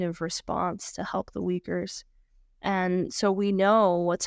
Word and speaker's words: Uyghurs: How about the Uyghurs in China? Have I pronounced that correctly?